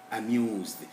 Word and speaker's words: amused: Here we have the sound, it is written S, but the sound it produces is a voiced one, Z. That's why we get amused, refused, because this S is actually pronounced as Z, and Z is one of those voiced sounds.